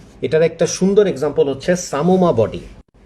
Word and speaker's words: psammoma: এটার একটা সুন্দর এক্সাম্পল হচ্ছে সামোমা বডি। বানানটা আপনারা একটু খেয়াল করবেন, PSAMMOMA, সামোমা।